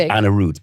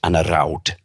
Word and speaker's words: Anarude: leaders but physically but he wouldn't be called Anarude by the way. Uh they'd recorded it before um and the name should be pronounced Anar but they recorded it before and the other person pronounced it that way so I had to pronounce it much to my protestation. It's not supposed to be done like that.